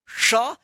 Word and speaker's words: श: तालव श या मूर्धन श तो श उच्चारण करेंगे श। ये जो जीभ है ये जीव तालों में जाकर सटेगा तब उधर से आवाज निकलेगा।